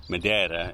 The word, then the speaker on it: Madeira: But and this was something he got from Madeira. Madeira is how we're supposed to say it in Portuguese, and I don't pronounce that very well.